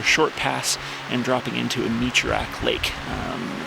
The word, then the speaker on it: Amaloyak: It's spelled Amaloyak, it's pronounced Amichurak Lake.